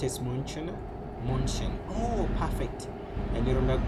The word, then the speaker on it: München: Munich pronounced as München.